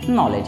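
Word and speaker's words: knowledge: K के बाद N होता है तो K आपका साइलेंट होता है। KNOWLEDG, इसको हम पढ़ते हैं नॉलेज।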